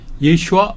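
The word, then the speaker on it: ישוע: 아 보통 명사입니다 그러니까 예수라고 우리가 발음하는 거 그게 아마 1세기 예수의 귀에는 예슈아 이렇게 들렸을 겁니다 예슈아 예 예슈아 예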